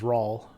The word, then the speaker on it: Raul: but the way I I pronounce the name is Raul so like the word wall with an R okay I guess we